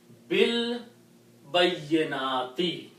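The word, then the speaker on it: بِالْبَيِّنَاتِ: When you recite this B, then you do not pronounce this alif, but combine this B with the lam. Bil bayyinati.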